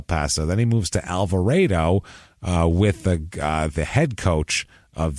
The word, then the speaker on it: Alvarado: So he coaches at it's spelled Alvarado, Alvarado, but it's said apparently according to this Alvarado.